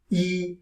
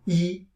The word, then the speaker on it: 一: of layer of a meaning of number one e still pronounced as e our surface meaning is e number one and